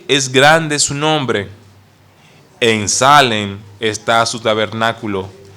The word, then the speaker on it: Salem: es el rey de Salem cuyo nombre suena como shalom salen suena como se pronuncia como shalom y en el hebreo